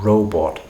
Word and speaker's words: robot: But this vowel, we call it the goat vowel in phonetics. This O vowel in robot is difficult for um Russian speakers to pronounce. So robot can easily turn into robot.